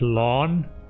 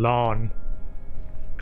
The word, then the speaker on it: Lan: with more cars and stuff and deep analysis lon like I would almost say l a h n lon instead of lamb and I was like okay